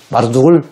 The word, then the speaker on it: 마르둑: 말뚝이라고 발음해도 강한 게 없을 것 같아요. 마르둑, 말뚝. 그리고 마르둑을 때로는 무로닥이라고도 성경이 언급하고 있어요.